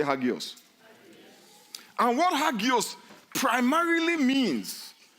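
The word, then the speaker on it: ἅγιος: That word holy comes from a Greek word that is pronounced hagios. Don't you know we say hagios?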